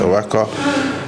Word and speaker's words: Oaxaca: Oaxaca, I think it's pronounced Oaxaca.